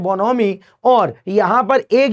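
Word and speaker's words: bonhomie: यहां पर एच जो है वो साइलेंट होता है, तो बोनहोमी उसे नहीं बोलते हैं। ठीक है, बोनोमी उसे कहा जाता है।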